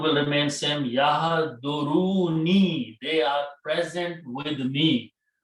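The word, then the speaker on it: يحضرون: Okay, so actual word is yahduru ni.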